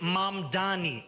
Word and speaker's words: Mamdani: And furthermore, the name is Mom Dani. M A M D A N I. You should learn how to say it because we got to get it right.